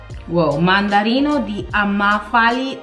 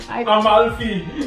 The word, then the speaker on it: Amalfi: And the Tom Ford Mandarino di Amafali Aqua. Amalfi. Oh, I butchered that. What's the name of it? Amalfi. Amalfi. Yeah.